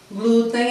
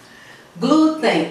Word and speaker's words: glúten: ideia farinha de trigo glúten é paroxítona é e a porque a sílaba tônica é a penúltima terminar np mirim então